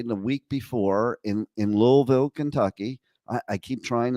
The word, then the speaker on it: Louisville: but probably not uh like I grew up with Louisville but I have to learn how to put that invisible L into the word okay uh but the